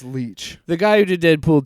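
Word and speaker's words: Leitch: fun uh David uh Lech Leech Lech I can't remember how to say his name. I think it's Leech.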